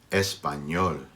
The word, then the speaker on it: español: It's pronounced sort of like NY. Ñ, ñ. Your tongue has to stay up on the roof of your mouth. Ñ, ñ. So it's not exactly like NY, but just practice it.